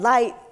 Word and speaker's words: Lyte: And Lyte, she, you know, it's spelled L-Y-T-E, and she's like, I'm light as a rock.